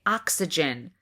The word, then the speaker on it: oxygen: But when I go to say oxygen, oxygen, it's hard to get that K in there and I want to say oxygen instead of oxygen.